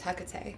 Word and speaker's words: Hecate: It's Hecate. That's how you pronounce that name.